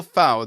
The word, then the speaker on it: Fow: okay so fowl that's right how do you say your name properly yes yeah no you got it exact right uh like a gem foul like wow okay I I'm just